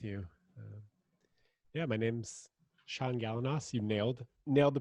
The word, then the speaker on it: Galanos: great connecting with you yeah my name's sean gallanos you nailed nailed the pronunciation i'm a love coach and i'm the